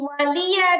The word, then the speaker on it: ولي: না দেখে পড়তে পড়তে এই ওয়ালিয়া দিনের জায়গায় ওয়ালিয়া দিন করে ফেলে, লামের মধ্যে জজমের মতো উচ্চারণ করে ফেলে, তাহলে কিন্তু লাহনে জলি হবে।